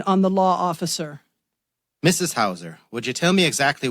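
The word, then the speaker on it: Heuser: affirmation Mrs Hauser Detective h-e-u pronounced Hauser a thank you he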